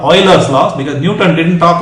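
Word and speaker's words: Euler: person Leonard o now this person many people pronounce his name as uler and I've heard this but it's actually from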